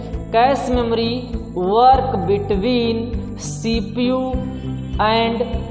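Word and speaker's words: cache: कैश पढ़ते हैं, pronunciation क्या होता है जान लीजिए। प्रोनाउंसिएशन होता है कैश। मैंने बहुत सारे स्टूडेंट को पढ़ते हुए देखा है कैचे। क्या पढ़ते हैं, कैचे। गलत प्रोनाउंसिएशन आप कर रहे थे, कैच का, ये कैच नहीं है, ये क्या है, कैश है।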